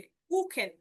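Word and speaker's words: Kuchen: মতো, যেমন স্প্রাখে, স্প্রাখে, কুখেন, কুখেন, দেখেন খ, এই যে সেহার আগে উ আছে, এই যে সেহার আগে আ আছে, যার কারণে তার উচ্চারণটা হলো খ এর মতো।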